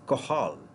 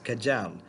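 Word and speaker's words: Cajal: they are called as interstitial cells are of qahal this is termed as qahal kaj al it's not not pronounced as kajam it is called interstitial cells of qahal so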